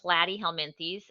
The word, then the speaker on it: platyhelminthes: us so flatworms are platyhelminthes plat rhymes with flat they have no body